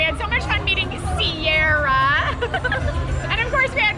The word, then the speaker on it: Ciara: And of course, we had a lot of Ciara? Fun. Say her name. It's like the mountains.